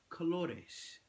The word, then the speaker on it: colores: Spanish now the word colors in Spanish is pronounced colores I'm looking forward to learning my colors in